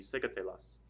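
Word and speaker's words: sécatelas: The stress is over the E, so that's where your accent mark is going to be secatelas.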